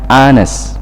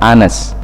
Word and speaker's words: honest: an ass ya disitu tulisannya adalah honest Tapi bacanya Anne's ya artinya jujur I want